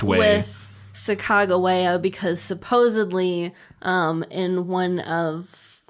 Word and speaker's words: Sacagawea: But supposedly there in his journal, there's like it's written out how it's pronounced, and it was Sacagawea.